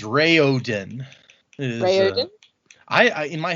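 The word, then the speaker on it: Raoden: It is Ray Ooden. Is Rayoden. I in my head I always said Raen, but apparently it is Ray Ooden.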